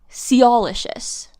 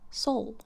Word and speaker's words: Soulicious: Anyway, so they have been pronouncing Soulicious, let's say, as Seoulicious. Seoul. Soul. Seoul.